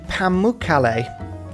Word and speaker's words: Pamukkale: I've also found the Pamukkale, which is exactly how you pronounce that one.